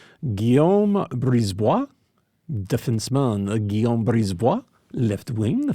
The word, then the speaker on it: Brisebois: In French, you pronounce the vowels, don't pronounce consonants unless they're followed by vowels. Guillaume Brisebois, defenseman Guillaume Brisebois, left wing Philippe de Giuseppe, center Max Sasson from the Abbotsford Canucks.